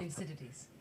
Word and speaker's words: Thucydides: My colleague Graham Allison has framed this, and I apologize, I'm going to say it wrong. You can probably say it right, Layna, which is Thucydides' trap. How do you pronounce it? I was way off. Thucydides.